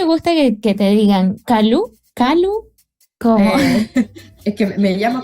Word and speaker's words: Calú: ¿Calú? ¿Cómo? Es que pero todos me dicen Calú. Ajá, con acento en la U.